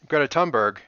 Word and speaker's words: Thunberg: Well, that if you think about like Greta Thunberg, it's THUNB blah blah blah blah, but it's pronounced Thunberg. They don't say the H.